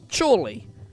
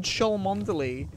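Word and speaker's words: Cholmondeley: not far from me called chorley but it's spelt cholmondaly and i remember we were cycling in and my friend was like oh we're coming up on shaw mondelez and my friend john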